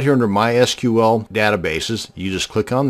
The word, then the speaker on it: MySQL: a mysql database and yes it's pronounced mysql not mysql so the next time you're at a dinner party discussing databases and frankly why would you be at a dinner party discussing databases but that's a different story altogether now you won't sound so much like a dork it is pronounced mysql many applications or scripts